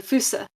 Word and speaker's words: fossa: Some Malagas people I met in Andas called it the Fousea. Right. Okay. But other people called it the fouse or the foo. Yeah, I've heard it pronounced quite a few different ways. I used to call it a fossa, which is probably completely wrong.